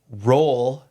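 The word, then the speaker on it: Roald: Uh, so roll. R O A L D. Yeah, it's a Norwegian name. The D is silent.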